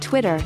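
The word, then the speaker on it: twttr: SMS Twitter was called TW TT are at the time it was founded in 2006 t WT TR is pronounced Twitter just like Twitter it is the brainchild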